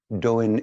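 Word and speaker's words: 導引: in what they call in Japanese doing is the Japanese pronunciation of the Chinese Dao Yen and Dao Yen means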